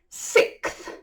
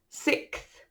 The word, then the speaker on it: sixth: This is difficult to say because it has an X in the middle, and people think you need to sound it. Ignore it. Pretend it's a C. Sixth. Sixth. So if you imagine it's spelt S-I-C-T-H, sixth, it's a bit easier to say.